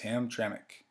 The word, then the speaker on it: Hamtramck: Hamtramck. Now I know the spelling of it doesn't look like it should be pronounced Hamtramck, but I promise you it's Hamtramck.